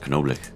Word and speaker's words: Knoblich: Actually, I did find out in German it is pronounced Knoblich.